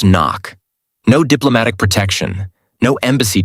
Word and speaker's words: NOC: NOC pronounced knock.